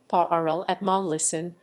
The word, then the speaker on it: parlement: A parliament, French pronunciation, paʁləmɑ, under the French Ancien Régime, was a provincial appellate court of the Kingdom of France.